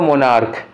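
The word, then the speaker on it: monarch: मोनार्क में ending क्या हो रही है, सी एच, लेकिन प्रोनाउंसिएशन क्या हो रहा है, का। इफ़ सी एच is pronounced as का, it takes only S to make plural, तो क्या होगा, केवल बी मोनार्क्स ये वाला होगा, मोनार्चेज नहीं करना है इसको।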